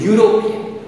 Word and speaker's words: European: vowel the letter u european but the sound that is produced over there is the y o o u sound y o u therefore